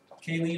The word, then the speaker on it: scalene: Scalene, I only ask you because it rhymes with your name.